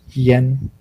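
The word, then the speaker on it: 儼: Okay, so this word is pronounced yen.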